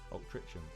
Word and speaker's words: Altrincham: Why is the C in Altrincham pronounced like a G? Altrincham.